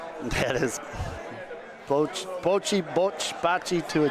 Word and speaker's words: Bocce: So Maurizio told me it's pronounced Bocce. Bocce. Bocce. Bocce. I think it's pronounced however you guys want to.